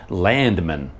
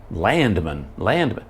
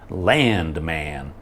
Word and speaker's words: Landman: looked at it, and I thought it would be like plural, like the show would be called Landman, something like that. But then I realized, oh no, it's man, Landman. It didn't make any sense to me, but now that I'm watching it, they pronounce it like they really hit land hard, like Landman.